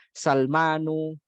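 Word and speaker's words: سلمانُ: Ya, bacanya adalah harokat biasa bukan tanwin. Sulaimanu. Ada Utsman, ya di situ ada Utsmanu, ada Salmanu, ada Maryamu, ya, nggak boleh Maryamun, nggak boleh Maryamu.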